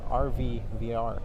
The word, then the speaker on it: ARVI VR: maybe tell us a bit about your company rv vr yes am i pronouncing it right yes rvvr so rvr is